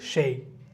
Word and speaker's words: chez: CHEZ, এটা হচ্ছে কি সেই, উচ্চারণ হচ্ছে কি সেই, CHEZ, সেই।